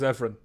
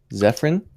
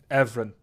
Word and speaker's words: Evren: My name is Evren. Zephyrin? Evren.